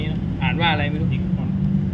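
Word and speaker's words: Nikon: ครับ ยี่ห้อ นี้ นะ อ่าน ว่า อะไร ไม่ นิคอน อ่าน ว่า อะไร นะ นิคอน นิคอน นะ ครับ เรียน น้อย ครับ ประมาณ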